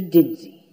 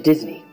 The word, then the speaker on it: Disney: So you are, in fact, Mr. Dinsey. No. Mr. Disney. If you're going to say it right.